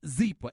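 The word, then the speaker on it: Zyppah: want you to go to zebra calm it's pronounced zebra and it's spelled zy p p8 h you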